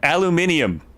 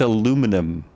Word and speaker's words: aluminium: I called it aluminium. You know, I for the longest time, I thought it was a different pronunciations. It is, in America, it's aluminum. But in a lot of other places, I always thought it was a pronunciation difference. It's literally spelled differently.